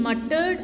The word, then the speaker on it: muttered: Next, The ed in muttered and revealed is pronounced d, only d. Muttered, revealed, only d is pronounced.